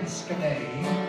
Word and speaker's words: Scimé: man, but still S-C-I-M-E, there ain't no H, there's no A-Y, if you don't like it, eat your mind off.